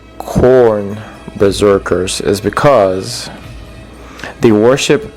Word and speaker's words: Khorne: It sounds like the vegetable corn, but it's spelled differently. Uh k h o r n e.